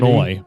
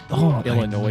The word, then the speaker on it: Illinois: Illinois. No, yeah, Illinois says like fingers on a chalkboard to me. I can't stand when people pronounce the S.